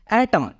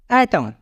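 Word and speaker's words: autumn: देखें तो बोलता है अगर शब्द का आखिरी अक्षर एन हो और उसके पहले एम आया हो तो एन का उच्चारण नहीं होता इसलिए हम इसको बोलेंगे एटम क्या बोलेंगे इसको हम एटम एटम मींस पत जड़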